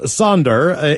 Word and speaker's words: Sandra: Bitches, it's my girlfriend Sandra's birthday, pronounced Sonder, in Victoria, British Columbia.